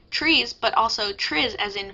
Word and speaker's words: TRIZ: designed to combat psychological inertia what is trees pronounced trees but also Tri as in Fizz by some